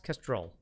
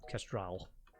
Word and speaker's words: Kestrel: do you spell that it's kestrel not castrol that one had three